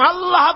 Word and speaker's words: আল্লাহ: পাকের নাম উচ্চারণ হচ্ছে আল্লাহ আল্লাহ মুখটা একটু গোল হয়ে যাবে বলেন আল্লাহ আল্লাহ পৃথিবীতে বিভিন্ন জাতি তার